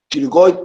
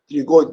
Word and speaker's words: pterygoid: going born he got the P is silent you don't pronounce the letter P so it's called CLE going on three gold but it has medial